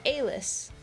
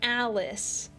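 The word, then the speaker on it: Alyss: And I always said her name was like Alis. Like that's what I thought her name was. And turns out you're supposed to pronounce it like Alice.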